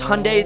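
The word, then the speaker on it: Hyundai: down below cuz this hyay that rhymes with Sunday goes 0 to 60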